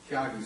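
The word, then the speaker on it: Tyagi: Is it a soft G or a hard G? Tiagi or Tiagi? Yeah. Tiagi.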